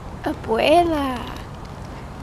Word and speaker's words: abuela: Say, abuela.